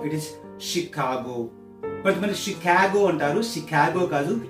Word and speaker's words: Chicago: Swami Vivekananda the first speed he has given in Chicago Chicago no it is ship cargo but Chicago and uh Lucy kabocha Luke CH IC AG